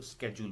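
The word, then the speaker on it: schedule: तो British British English में उसको शेड्यूल बोलते हैं, अमेरिकन इंग्लिश में उसको स्केड्यूल बोलते हैं।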